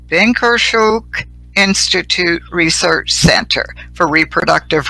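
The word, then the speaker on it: Bynkershoek: of the, I hope I say this right, Binkershoek Institute Research Center for Reproductive Rights.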